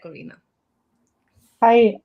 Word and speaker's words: Karina: Go ahead, Karina. Hi, I'm Karina H. It's the German pronunciation.